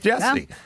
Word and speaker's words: Jussie: him so I'm I'm going with Jessie it's spelled Jesse anyway or looks like Jesse anyway uh so I said in